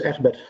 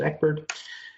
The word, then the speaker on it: Egbert: As said, my name is Egbert. That's a very Dutch pronunciation. The international version is Egbert.